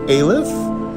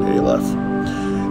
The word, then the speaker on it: Ayliff: is john j o h in last name aleph a y l i f f and the